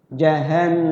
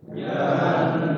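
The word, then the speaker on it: جهنم: Cara bacanya di nunnya itu digunnah, dilakukan. Jahannam, ayo. Jahannam.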